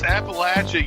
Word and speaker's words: Appalachia: Is that how you pronounce it in Appalachia? It's Appalachia, you uncultured swine.